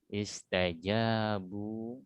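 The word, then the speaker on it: اسْتَجَابُوا: Afif, bunyinya di ayun karena ada waw mat. Istajabu, kalau mat di ayun ya, ulang.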